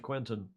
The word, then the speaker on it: Quentin: It was a very nice article in Tip and Shaft about Quentin, as it's pronounced in French, Quentin Delapierre, who may come out of this in the top three.